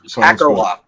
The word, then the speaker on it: Akerlof: Pronounce George's last name so I don't miss. Akerlof, George Akerlof.